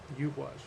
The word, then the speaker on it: Eihwaz: That sound is a sound that um, we don't have anymore, and it's a U sound.